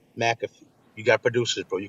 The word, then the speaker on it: McAfee: Charlemagne, I know you're not listening, but it's McAfee. Not McAfee, McAfee.